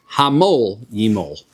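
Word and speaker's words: המול ימול: For Rabbi Yochanan says himol yimol, which he says to pronounce it hamol yimol, right?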